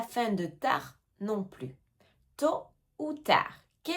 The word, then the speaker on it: tôt ou tard: Ils ne sont même pas venus à la réunion tôt ou tard. Tôt ou tard. Attention ici aussi aux lettres qu'on ne prononce pas.